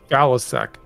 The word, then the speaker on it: Faliszek: How do you pronounce this person? Faliszek? It's Faliszek.